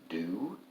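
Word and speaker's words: du: Many books that I read make a big deal about whether somebody addresses someone else with the formal do, and it's spelled D-U.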